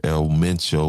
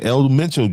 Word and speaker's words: El Mencho: And there's that gentleman's name right there, El Meno. Like I was just trying to pronounce, but that just got me all mixed up. But uh again, El Mencho just wasn't any cartel boss.